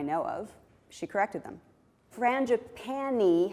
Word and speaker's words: frangipani: of she corrected them frangipani has one more syllable than frangipane and for a syllabic